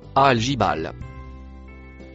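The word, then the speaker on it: الجبال: La lettre en noir, c'est la conjonction et le mot en rouge se prononce algibal.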